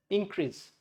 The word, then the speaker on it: increase: So it's called increase if it is noun. If it is verb, it's called increase. This is the stress portion.